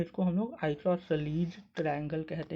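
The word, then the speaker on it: isosceles: इसको कई लोग आइसोसेलस भी कहते हैं। लेकिन इसको आइसोसेलस नहीं आइसोसेलस हम लोग कहते हैं। इसका प्रोनन्सिएशन मैंने यहां पर लिखा हुआ है। आप देख सकते हैं। आइसोसलीज़ तो इसको हम लोग आइसोसलीज़ ट्रायंगल कहते हैं। आइसोसेलस ट्रायंगल गलत होता है।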